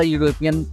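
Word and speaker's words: European: यू का उच्चारण हम यह से करते हैं, तो यह जो है वो कंसोनेंट साउंड है, न कि वॉवेल साउंड। इसलिए अ यूरोपियन आना ज़्यादा उचित होगा।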